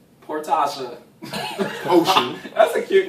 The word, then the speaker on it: Porsha: together one two three poor portia phonetically yeah it's not portion portasha ocean that's a cute